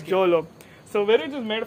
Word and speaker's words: Jolo: How do you pronounce that, by the way? JOLO. So it's JOLO.